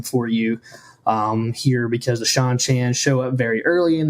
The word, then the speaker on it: Seanchan: you think we pronounce I think it's Shan Shan like the name Shawn because that's how the